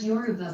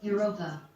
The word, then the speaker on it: Yoruba: My story became a legend, and the word Yoruba began to be mispronounced as Europa.